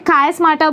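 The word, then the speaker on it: chiasmata: इसको हम बोलते हैं चियास्माटा। क्या बोलते हैं? कायस्माटा बोल सकते हो, चियास्माटा बोल सकते हो, आपके ऊपर डिपेंड करता है आपको कैसा प्रोनाउंसिएशन याद रहेगा।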